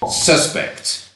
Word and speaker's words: suspect: crime is the suspects notice suspect with the stress on the first syllable because it's a noun but the police suspect that this person did the crime they suspect that he did decline this is because suspect in this context is a verb and so distress falls on the second syllable I'll put a list